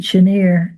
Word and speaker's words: Chenier: We heard Clifton Chenier, and but even though he's Cajun, he does pronounce it Chenier, as you may know.